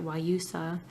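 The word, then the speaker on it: Guayusa: is called why yousa spelled with a G but you say it why yousa and I feel like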